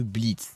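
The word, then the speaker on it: Blitzø: résumer c'est l'histoire de Blitz qui s'écrit blitzo mais le ne se prononce pas sais pas pourquoi qui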